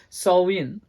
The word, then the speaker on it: Samhain: Celtic Festival of Samhain written as Sam Hein pronounced more like salvin in this particular Festival this festival of light